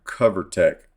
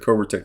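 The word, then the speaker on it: Covertec: for the screw on your cover Tech and not covertek uh I said Cobra Tech the other day and a guy named covertek or covertek uh told me how to say it so it's for your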